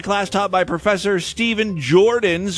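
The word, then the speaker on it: Joordens: taught by Professor Stephen Jordans with 2 O's. Jordan. You have to say it like that. It's like his name, and it's Jordan in slow motion with those extra O's.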